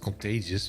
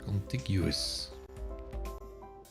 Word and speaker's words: contiguous: ship anywhere 48 contagious complete how do you pronounce that contagious it's not contagious that's something else the produce come from Mexico yeah but that's probably cheaper than if you get it from the US is contiguous I also have something like um do something